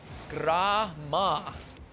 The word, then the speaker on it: Gramma: what can you do Grammar with a silent R is exactly how how I'm pronouncing it Grandma grammar grandma game